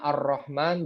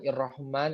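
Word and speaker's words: الرحمن: ilhamdi atau hukum Alhamdulillah kita bacanya ar-rahman bukan hirohman atau Irwan him seperti itu ya ya bukan hirohman atau urrahman tapi biasanya ar-rahman karena disitu ada tanda al-islam seperti itu itu 14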